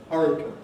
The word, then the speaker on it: hurricane: so this is different this is a spelling pronunciation coming in the spelling suggests came and that has presumably been one of the factors that has led people to move away from the traditional pronunciation hurricane in the direction of the one that agrees with the spelling hurricane but this is what